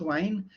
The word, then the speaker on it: Wien: Well, actually, if it's German, you would pronounce it Wein, but it's actually Max Wein.